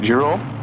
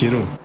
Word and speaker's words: Jeroen: Is it Jerome? Yeah, let me check. I think it's Jeroen. If I remember correctly, it should be Jeroen de Wit.